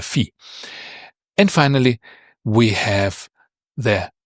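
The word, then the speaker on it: φι: And a fish ball begins with a fee. And so this is how you can try to remember it. Perhaps it helps you. The fish ball on a stick is a fee.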